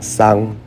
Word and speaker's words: xong: Tôi đã làm xong is ready, some people say làm xong, some people say làm xang, there are both pronunciations.